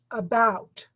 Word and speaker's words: about: When you say the word about, the emphasis is on the second part of the word, about.